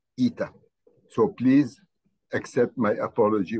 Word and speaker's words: eta: And I apologize for having pronounced it yesterday as H in English. No, it is eta.